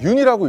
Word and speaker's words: 윤: 여기 보시면 흙이 있는데요 많은 분들이 아마 그 윤 이제 윤이라고 읽거든요 연이라고 읽으실 수도 있고 뭐 여러가지 방법으로 읽을 수 있는데 그 유년근 화백 님의 성입니다 그래서 외국에서는 윤이라고 많이 부르기 때문에 제가 그 윤이라는 그